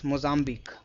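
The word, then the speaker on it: Mozambique: This q u e is always pronounced as c. So pitchusk. Similarly moambi or antique. You remember this right? Antique. There are so many words in English where just like pronounced. So what we have to remember is this mozzambi.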